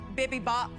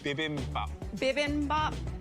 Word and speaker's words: bibimbap: is a coconut jasmine bibby bop bb bop bb mop bimmy bop beam above bad no idea what i mean sorry can you tell me how to say it correctly bibimbap yeah okay i made